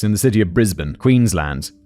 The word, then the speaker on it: Queensland: the city of Brisbane Queensland David specifies land not Lund Queensland I feel like that's